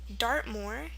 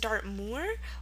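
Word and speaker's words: Dartmoor: It's pronounced two ways. It can be pronounced Dartmore or Dartmore. And um you'll see why. It's because it comes from a region in southwestern England. Lots of um OO words in England can be either uh or O.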